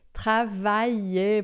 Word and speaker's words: travailler: Quando tem o L, o I se separa do A e pronuncia junto com o L um I prolongado. Não faz o som de L, faz só I, tá?